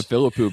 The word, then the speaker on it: Philippou: And I'm talking about Bring Her Back with the, how do you pronounce their names? The Philippou brothers? The Philippou brothers, yeah.